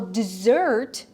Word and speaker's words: dessert: Ал dessert, заметьте pronunciation, да, ударение, это десерт, dessert.